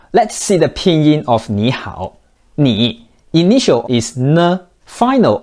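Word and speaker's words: 你好: they pronounce like this so when two third tones are together the first one turns to the second tone but it's still written in the third tone normally Nihao is more than enough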